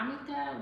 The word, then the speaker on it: jamaica: got amica, which is it's spelled Jamaica, but it's like a plant, and they brew it like a tea is the best way for me to say it, but it's called amica.